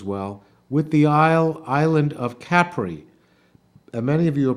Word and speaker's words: Capri: he's pronouncing it incorrectly, because isn't it called Capri? And that's not right. Most people pronounce it incorrectly. It's Capri.